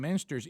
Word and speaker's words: Muenster: yeah don't call him monster he hates that just start just like I said change the cheese just just pronounce the cheese my way and you won't screw up my name ever again that's it now if